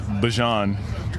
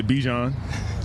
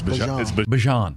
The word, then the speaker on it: Bijan: How you pronounce my name is Bjon for everybody that's that's out there. Um I know a lot of people say Bjon, but it's Bjon.